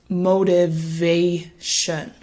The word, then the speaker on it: motivation: one more time motivation so we place the stress on that third syllable motivation what you'll notice is